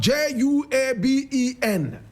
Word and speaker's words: Juaben: In fact, Juaben, spelled J-U-A-B-E-N, but the correct pronunciation is Juaben, like Juaben, D-W-A-B-E-N-G, Juaben.